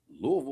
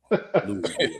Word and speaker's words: Louisville: Well, why they say Louisville Slugger? Because they say it wrong.